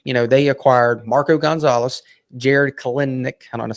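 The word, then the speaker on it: Kelenic: It's Kelnick. The second E is kind of silent, and I've tried to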